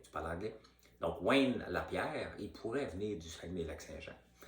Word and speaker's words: Lapierre: Un des vice-présidents ou le président de la NRA, il s'appelle Wayne Lapierre. Je le prononce en anglais parce qu'il n'est pas québécois.